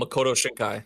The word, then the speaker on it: Makoto Shinkai: magic animation is beautiful um how do you pronounce this the director's name I um Makoto shinkai thank you Makoto shinkai his